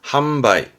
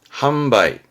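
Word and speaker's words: 販売: 팔판자입니다 판매하는 판자죠 한자 많지 않아요 이게 판매 발음은 한바위 함바이 판로 물건을 파는 팔로겠죠 팔로입니다 발음은 한로 한로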